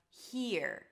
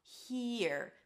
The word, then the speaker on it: here: Then we have here. It's an H sound, then a high E. He, and then you shift to the R. Here. Make sure the E is long enough.